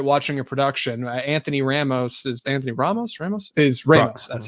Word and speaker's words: Anthony Ramos: Anthony Ramos.